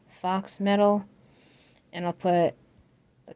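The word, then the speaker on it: faux: not fake, you know, the word that sounds like Fox. F-A-U-X, I believe it's spelled. Fox metal.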